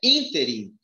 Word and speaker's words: ínterim: E essa palavra, a pronúncia é ínterim, que significa intervalo.